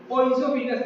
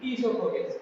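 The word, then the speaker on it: oesophagus: जैसे ओइसोफिगस नहीं बल्कि ईसोफोगस। क्या बोलेंगे? ईसोफोगस।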